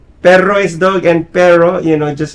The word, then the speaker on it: perro: Can you roll your R's like the Spanish? Yeah. Say pero. Say dog. Say dog. Oh, perro, See, I can't do that. perro. Yeah, there is pero and then perro.